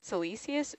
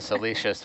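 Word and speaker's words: siliceous: wikipedia article yeah wow salisius celesius ooze is how you say that delicious delicious that makes sense as opposed to salicious which is something else yes as i said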